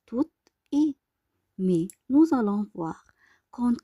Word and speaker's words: et: Commençons alors par le ET, que se prononce E, est une conjugation de coordination.